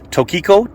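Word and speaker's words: Tokico: piston calipers, and these are see how you pronounce it, Tokiko, T-O-K-I-C-O.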